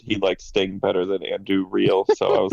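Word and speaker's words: Andúril: likes Sting better than Anduril. So I was like, okay. Yeah, I love Andui as much as the next guy, but Andui. You all have to learn how to roll your R's better.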